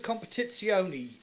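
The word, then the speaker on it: Competizione: has no VR mode that's not a real word that's actually the correct pronunciation I got pulled up in my review by an Italian guy and who's just said English people in Italian and it's like a set of course a competitioni there you go yeah so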